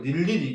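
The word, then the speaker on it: 늴리리: 우선은 자음을 첫 소리로 가지고 있는 음절 의는 자유를 잡으니까 이거는 이중모음 의는 발음하지 않고 단모음 이로만 발음합니다. 밑에 예를 보면 닐리리 있죠.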